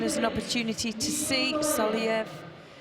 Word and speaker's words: Soliev: I'm going to go straight into the quarterfinals, and this is giving us an opportunity to see Soliev. How do you pronounce his name? Solovey.